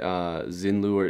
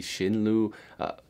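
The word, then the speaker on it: Xin Liu: it people are saying I'm saying it xin lure and it should be shin lu again i'm just i'm you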